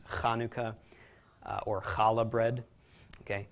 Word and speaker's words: Hanukkah: back of your throat you'll hear it in German like the composer Bach okay is properly pronounced that way some Hebrew words Konica also known as Chanukah it's actually pronounced Hanukkah or challah bread okay